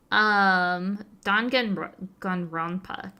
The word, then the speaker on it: Danganronpa: Danganronpa. Ronpa. I didn't know about the N at the end.